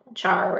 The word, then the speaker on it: char: enum or you know char or care however you want to pronounce it that indicated two of